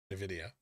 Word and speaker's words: Nvidia: you to pronounce it nvidia instead of no video no it's and i don't pronounce it in that video it's nvidia so it's almost like an iv what hater do you